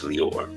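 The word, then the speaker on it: Lyor: said that, but definitely as I call him Liar Cohen. I know I know his name is Leor. Yes, I'm mispronouncing his name, but yeah, this guy ended up having a tremendous uh influence.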